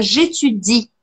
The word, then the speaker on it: j'étudie: Mas em francês é étudier, então quando eu falo eu estudo, a gente fala j'étudie, j'étudie, e o último som que eu escuto é um som de I.